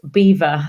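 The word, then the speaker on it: Belvoir: know my current role it means beautiful view in french but it's actually pronounced beaver the veil of beaver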